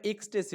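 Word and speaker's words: Ecstasy: দা এক্সটেসি এখানে মানে উচ্চারণটা এক্সটেসি হবে।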